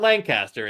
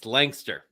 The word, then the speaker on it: Lancaster: Langster it's langcaster Langster it's not Lancaster it's Langster okay well I'm trying to